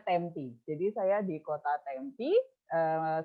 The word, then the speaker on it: Tempe: saya taruh dicat ya tulisannya tempe teman-teman kan tempe ya Tapi bacanya tempe jadi saya di kota